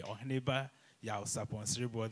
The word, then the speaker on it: Oheneba Yaw Sarpong Siriboe: So Nana Yaw Sarpong Siriboe the first, or I should actually say it properly, Oheneba Yaw Sarpong Siriboe the first, is the, as we all heard, Akyempemhene, the first Akyempemhene of Juaben traditional area.